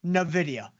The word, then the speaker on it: Nvidia: So, with uh which, by the way, remember it's pronounced Nvidia with Nvidia.